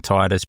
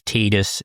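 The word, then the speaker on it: Tidus: Yes, I'm saying Titus because Tetus is a stupid way to pronounce it and I'm old and I'm not going to change.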